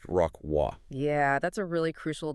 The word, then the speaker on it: Rocroi: O C R O I, but it's actually pronounced rockw.